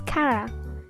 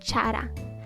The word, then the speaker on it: Chara: That's why it's pronounced as Kara, not Chara.